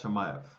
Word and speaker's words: Chimaev: But the first things first, Gilbert Burns against, pronounce it again for me, fam? Hamzat Chimaev.